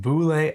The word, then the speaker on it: Bulle: His name is spelled B U L L E but it's pronounced Boule. He said like bullet with no T.